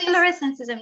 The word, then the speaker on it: florescencism: about the concept that you coined in 2016, florescencism. Maybe I cannot pronounce it. Yes, So could you it's correct, florescencism, yes.